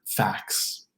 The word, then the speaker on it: facts: A clear example of a T sandwich would be the word facts. Facts, F-A-C-T-S. Do you hear the T in that cluster? Facts, facts, facts, facts. For most, the word fax would sound exactly the same as a fax machine, F-A-X, fax.